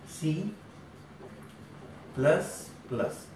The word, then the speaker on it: C++: उन्होंने क्या किया, सी को सी प्लस प्लस, एक्चुअल में इसको प्रोनाउंस ऐसे करते हैं, याद रखना, सी प्लस प्लस, यानी सी का इंक्रीमेंट, सी का विकास होके सी प्लस प्लस बनी।